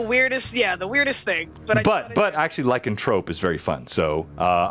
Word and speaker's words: lycanthrope: the only reason why I said lycontrope is because I've been corrected by so many people like it's not lycanthrope it's like a Trope so that's why I say it like that lycontrope even though it's like anthrope right yes someone if I'm